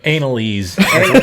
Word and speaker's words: Annaliese: did that this guy her name's annaliese she said analyse she likes to be that's how you pronounce it analyze huh anal